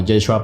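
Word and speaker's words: ישוע: Ahora, en su tiempo, en arameo se pronunciaba como Yeshua para abreviarlo, pero todo cambió cuando el Nuevo Testamento fue escrito en griego.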